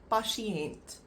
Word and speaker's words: patiënt: And then we have patiënt, patiënt, which is a patient. And that is again pasi, and then ent, patiënt. And that is the way to pronounce those words.